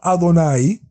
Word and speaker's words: Adonai: nombre que es el nombre sagrado que lo pronunciamos adonay no porque está escrito Adonai sino que allí